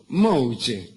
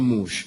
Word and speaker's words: mouche: ponía en la cara se llamaba mouche como elador de boca Aunque ellas insistían en pronunciarlo mal de pronunciarlo mal decían mus Qué cosa mosca pero